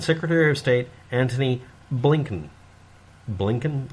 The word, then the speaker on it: Blinken: of state anthony blinken blinken is actually how it's pronounced apparently none of these